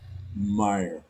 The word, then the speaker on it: Meyer: See, now I have too much attention on how the correct pronunciation. all It's right. Meyer, isn't it? Meyer.